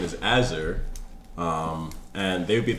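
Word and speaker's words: Azurek: My character's name is Azur, and they would be at the tavern because Friday nights with the boys. How do you spell Azur? A Z U R E K. The K is silent.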